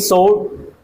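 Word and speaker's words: sword: the last bargain the last bargain the king सोड इसको बोलेंगे सोड क्या बोलेंगे सोड इसमें डब्ल्यू साइलेंट समझो सोड द किंग सोड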